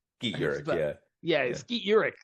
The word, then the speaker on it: Skeet Ulrich: I always forget how you pronounce it. Skeet Urich. Skeet Ulrich.